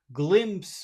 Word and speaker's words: glimpse: word so we've got to make it big glimpse of the glimp of the he got a